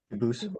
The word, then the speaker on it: Dubus: I know a family with that same exact spelling in American, they do pronounce it dubis, but you said you pronounce it dubus as the original dubus as the original French.